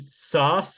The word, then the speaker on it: Sauce: This man is named Sauce Gardner. We talked about this last year when he was drafted. Am I pronouncing his first name correctly?